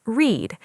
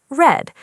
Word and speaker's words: read: In the present simple, we say, "I read books every evening." Here, read is pronounced read. In the past simple, we say, "I read an interesting book yesterday." This time, read is pronounced red.